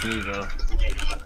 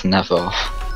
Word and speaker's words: Nevo: It's Nevo. Oh, I thought it was Nevo. Same. A lot of people in Britain think it's Nevo.